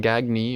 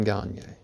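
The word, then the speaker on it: Gagné: Next up is Simon Gagne, or Simon Gagne, or Simon Gagny, or however you want to pronounce it. There's 700 million ways. But there's only one right way, and I'm pretty sure that's Simon Gagne.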